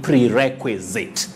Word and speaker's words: prerequisite: say requisite or perquisite so the confusing part is s-i-t-e in its ending you don't say cite you say zit prerequisite prerequisite well thank